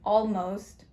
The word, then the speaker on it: almost: The O here doesn't have the right sound. It should normally be aw, but it changes from aw to o. So this changed the sound. And O is irregular in this word. The letter O, the vowel O is irregular in this word and in this syllable.